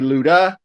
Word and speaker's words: Ludwig: And his nickname is Ludi for Ludwig. So my American pronunciation that's going to be Luda, as in ludicrous.